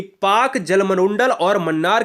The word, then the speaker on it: Palk: है, यह पाक जलसंधि PALK को हम पाक कहते हैं। ठीक है ना, इसमें यल साइलेंट होता है।